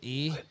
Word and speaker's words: y: So Y is pronounced E.